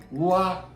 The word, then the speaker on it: ㄨㄞ: So U, the combination between U and I is like why, U, I, U, I, why.